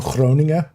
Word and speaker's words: Groningen: Everybody will say Groningen. Because the G, the Dutch G is, although well, a bunch of languages do have the G, but it's not the G that most people can do.